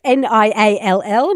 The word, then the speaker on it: Niall: So it is spelt N-I-A-L-L. So Niall, thank you so much.